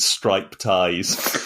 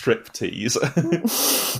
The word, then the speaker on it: striptease: And I think one of the guys, probably Alfred, was pronouncing it stripe ties because he hadn't realised it was an English word. And so I said, no, it's American, not English. It's pronounced striptease.